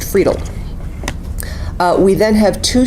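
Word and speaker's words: Friedl: senior attorney Jason friedel his last name is f r i e d l f r i e d l pronounced fredel uh we then have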